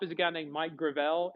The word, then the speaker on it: Gravel: Listed at the top is a guy named Mike Gravel. It looks like gravel, but it's Gravel.